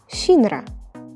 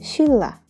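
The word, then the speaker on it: 신라: example the word for Silla it's written as Shinra but we have to pronounce it as Sheila by the way Sheila was a Korean Kingdom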